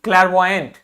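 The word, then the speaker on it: clairvoyant: ठीक, और अगला वर्ड देखिए, ये है, इसको बोलेंगे CLAIR, मतलब होता है क्लैर, VOYANT, क्लैरवॉयंट। इसे क्या कहते हैं? क्लैरवॉयंट। क्या होता है ये? क्लैरवॉयंट। क्या है? क्लैरवॉयंट। Claire, CLAIR, क्लैरवॉयंट।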